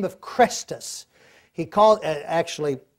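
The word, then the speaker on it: Chrestus: a conflict between Jews by the name of Crestus. He calls it Crestus. He mispronounced it.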